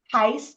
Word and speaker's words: Heist: sh and insurance services Heist actually rhymes with nice and we specialize in